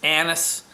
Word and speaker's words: anise: apply i'm enjoying it my wife says it's not a niece it's anise i've been pronouncing that wrong but let me tell